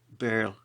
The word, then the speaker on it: birl: He continues, effectively describing the Scottish birl, no doubt rhyming with curl, and defining D as the tonic note.